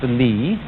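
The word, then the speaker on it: 理: Do you remember this word, which is pronounced Li, and which had as its original meaning the markings in jade, the fiber in muscle, or the grain in wood?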